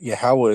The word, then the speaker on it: Yahawah: But Yahawah is how it would be pronounced in the the ancient Aelio Hebrew.